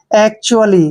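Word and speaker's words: actually: जो कि गलत है ए का उच्चारण हम क्या करते हैं ए और सी को क्या पढ़ते हैं क आधा क और टी य का उच्चारण देखिए हमने च और यू करना है ठीक है च और यू ठीक है और ए को हम ए की मात्रा प ए पढ़ते हैं और डबल एल को ल पढ़ते हैं और वाई को ई की मात्रा पढ़ेंगे एक्चुअली क्या पढ़ेंगे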